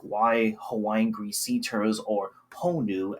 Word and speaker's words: honu: And the video itself is quite disturbing honestly as someone that knows and studies like why Hawaiian greeters or ponu as is pronounced in Hawaiian um why they're pretty integral and important here in Hawaii.